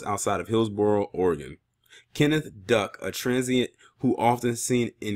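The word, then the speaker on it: Duyck: This man's name is Kenneth Duck. Yes, his last name is Duck, but it's spelled D-U-Y-C-K.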